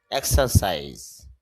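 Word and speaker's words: exercise: হবে এইভাবে ইট খাওয়া এক্সারসাইজ এক্সার এখানে র যে সাউন্ডটা র সাউন্ডটা হবে না এক্সারসাইজ অর্থ হলো ব্যায়াম করা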